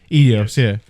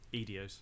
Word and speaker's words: Eidos: Eidos, yeah. I can't pronounce that.